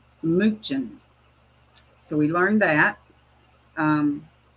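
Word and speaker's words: München: They pronounce it minen.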